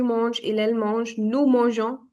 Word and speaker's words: mangeons: Je mange, tu manges, il elle mange, nous mangeons. It's not mangions. Nobody's going to pronounce it as mangions. It's mangeons.